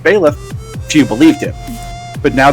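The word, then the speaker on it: Byleth: next DLC character with the fire emblem pronounced bailiff she believed it but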